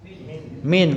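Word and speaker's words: من: tadi dalam kurung itu Min atau Man bacanya Min kenapa Min karena huruf Jar kalau Man itu Isim istighfar kata tanya karena ini kita membahas huruf jer maka bacanya Min artinya dari kemudian Ila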